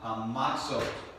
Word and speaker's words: matzah: feast of unleavened bread table matzah is how you say it in Hebrew and and of course